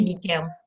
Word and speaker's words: Michael: Voilà, à vous la parole pour vous présenter, Michael. Alors, bonsoir, mon prénom est Michael en fait, ça se prononce Michael, excusez-moi.